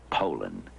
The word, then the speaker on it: Poulan: like to remind you that our name is Poland and for a tough Dependable chainsaw Poland is The Only Name you need to remember no matter how you pronounce it Poland